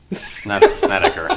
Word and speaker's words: Snedeker: the ceiling or whatever for the bad names that I pronounce. Oh. Brandt Snedeker. Snedeker.